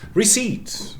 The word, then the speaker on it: receipt: for this purpose latinization receipt the same thing yeah receipt never pronounced uh just because i mean it has some origin way back in latin reception okay put the perp in it receipt to make it look more latin same thing never pronounced